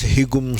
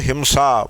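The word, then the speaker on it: हिंसा: because sai is following the anuswara him is pronounced as higum see for the purpose of pronunciation you may say hikum see while chanting but when it comes to meaning drop that gum don't worry about that drop it and say him see so himsa violence himself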